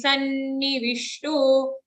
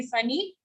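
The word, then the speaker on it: सन्निविष्टो: Hrudi sannivishto. Sanni, double na, don't say sunny.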